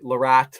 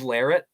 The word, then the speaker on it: Larratt: up all the time some people are like lorat larit it is lyric it's not lorat but it's some people pronounce it different at the end of the